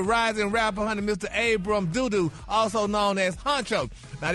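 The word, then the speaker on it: Dodoo: Abram D-O-D-O, Doodoo. It ain't Dada? Dodo? Dodo? Well, it's spelled Doodoo. Yeah, Doodoo is 2 O's.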